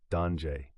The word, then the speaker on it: danger: It's the same word in English and French, but pronounced differently, danger.